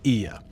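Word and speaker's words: Oia: Yes, it's pronounced Ia.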